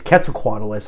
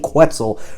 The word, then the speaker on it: Quetzalcoatlus: I keep saying Quetz. It's Quetzalcoatlus. I've been saying Quetzal for like decades, and I just cannot reprogram my brain to say it right.